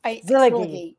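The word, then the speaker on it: Szilágyi: She's, I think it's a Hungarian name, so it's, I don't know how to say it either. We have to find out. I actually, Zilagi. That's it. Yes, I looked it up, so that's right.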